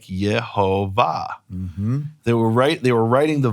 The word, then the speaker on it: Yehovah: Now, I'm not saying this proves Yehovah's name is Yehovah. That is the pronunciation.